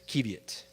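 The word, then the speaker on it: qiviut: Is this pronounced kievit or is it kiviet? There it is, kievit.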